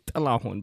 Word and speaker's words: Tahun: my real name is Tahun, but because you don't have the noise in the English alphabet, you can pronounce it with a T. So you can say Tahun.